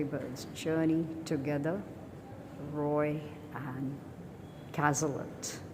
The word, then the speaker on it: Cazlet: Roy and Caslet. Castlett rhymes with Hlet. William Hazlet.